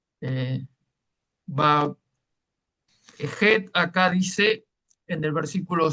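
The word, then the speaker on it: חית: Entonces, por eso algunos dicen, ¿cómo usted nos enseñó Het? Pero acá dice Chet. ¿Ah? es en realidad es het.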